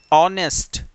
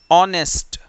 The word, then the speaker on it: honest: नेक्स्ट, silent H, कई words ऐसे भी होते हैं जिनमें एच अगर स्टार्टिंग में हो तो वो साइलेंट होता है, उसे पढ़ा नहीं जाता। For example, HONEST, ऑनेस्ट, ऑनेस्ट, HOUR, आवर, our, okay.